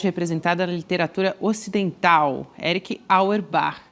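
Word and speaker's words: Auerbach: Eric Auerb, o professor Castro Rocha, pode corrigir aqui a minha pronúncia, mas vamos nessa. Abre aspas. Aerb. É, não sei falar esse esse pronúncia alemã não dá.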